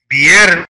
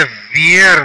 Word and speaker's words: viernes: بيرنس ليس فير ي اي مع الاي تنطق ي، الاي مع الاي تنطق ي، الاوب تنطق كالباء خفيفة بي بير، الار تنطق ار ان ان اي اس اي. بيرنس بيرنس بيرنس.